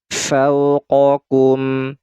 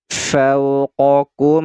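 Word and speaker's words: فوقكم: nah yang ini nah ini harfulin lembut saja cara membacanya fa fa faau wau sukun sebelumnya adalah huruf yang berharakat fathah ini harfulin harful Lin cara membacanya lembut saja fauqokum fauqokum fauqokum sab'an fauqokum sab'an Nah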